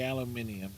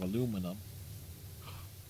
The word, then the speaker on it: aluminium: Look, I've learned to say aluminium love aluminum. Jesus. It can't. That's adding the syllables to it. The letters aren't even in there.